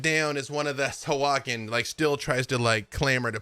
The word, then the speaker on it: Sahuagin: Sahuagin. Which honestly, that is how it's spelled if you look at it, and I still find a way to do not that. Sahuagin.